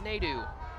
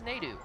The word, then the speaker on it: Nadu: So, it's Nadu. Nadu. Ryan Nadu checking into the ball game. I need to change that in my pronunciation sheet. For some reason, when they did the team pronunciation list, it sounded like he said Naidu that day. So, I'm glad you helped me out there with that, Grace. It's NATO.